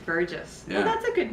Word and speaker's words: Burgess: I believe it's Anthony Burgess. Burgess. Soft G. Burgess.